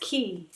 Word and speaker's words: Quay: Quay and it's actually pronounced Key. I found that out.